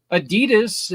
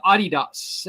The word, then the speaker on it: Adidas: Adidas is my son's favorite shoe company. Aha. Even though it's not Adidas, it's Adidas. But Oh, okay. I didn't know that. yeah, it's actually pronounced Adidas.